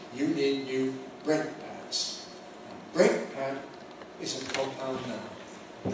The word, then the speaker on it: brake pad: So we put the stress on the first element and we say break.